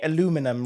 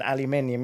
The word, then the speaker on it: aluminium: It's like when Americans say aluminum rather than aluminium, isn't it? Aluminum. Americans do not get me. There's an extra I in that word.